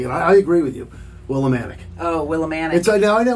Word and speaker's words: Willimantic: It's not Willimantic. It's spelled with a T at the end. That's Willimantic. Right.